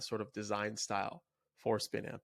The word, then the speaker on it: Spinamp: the name is uh spin amp which rhymes with one amp there was this music